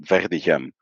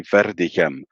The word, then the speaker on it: Verdegem: Like I pronounce it Verdegem. I pronounce it with a French R. If you would say Okay. with a rolling R, it'd be Verdegem.